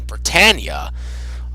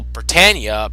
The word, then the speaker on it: Britannia: Bandai, reprinted by Funimation, they call Britannia Britannia. However, in this dub, they are calling them Britannia. They're pronouncing it Britannia rather than Britannia.